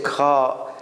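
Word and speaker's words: خاء: And then we have Ha is like K and H together. Ha.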